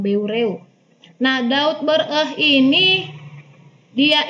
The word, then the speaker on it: Beureueh: oleh Daud beureuh ya bacanya beregu kan brew nah Daud Beureueh ini